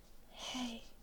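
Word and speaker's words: hei: And it's very easy because our The most common high is hey. And it's pronounced exactly like hey like like if you've read like h e ey e in English.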